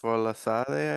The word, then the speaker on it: Folasade: Folasade, I believe. Yes. Yes. Is that her name? Yes. Uh, You did pronounce it properly. Great. The oh, S good. is now is SH. So Folashade.